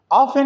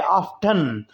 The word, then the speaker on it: often: जारी जय करता है ऑप्शन में थी साइलेंट है ब्रिटेन ब्रिटिश की इंग्लिश है वहां के उसूल और जपते के मुताबिक जब के अमेरिकन में टी बोला जाता है ऑप्शन इसको बोलते हैं दोनों तरह इसको अदा करना दुरुस्त जमाना गया है आई आफ्टर फॉरगेट मी